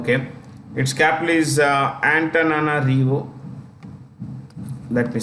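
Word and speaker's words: Antananarivo: I'm so sorry okay it capital is uh antana rivo let me spell it here antana REO okay let's look at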